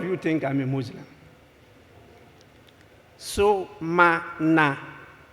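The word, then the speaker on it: Sumana: So-ma-na, not Sumani, not Sumanu. So-ma-na.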